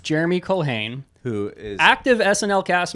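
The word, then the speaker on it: Jeremy Culhane: Jeremy Colhane, Jeremy Colhane, who is active SNL cast member and arguably one of the greatest of all time.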